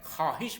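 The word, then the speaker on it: خواهش: अलिफ हे और शीन जब भी वाव ख और अलिफ के बीच में आ जाता है तो वह साइलेंट रहता है लिखेंगे हम उे उर्दू में खवाहिश पढ़ते हैं जबकि फारसी में खवाहिश पढ़ा जाएगा तो ये देखिए आप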